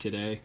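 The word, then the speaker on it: Kidde: you this one here's a good one these kedai extinguishers are the most common ones that you find at Home Depot it is pronounced kadai I've called the company before because it was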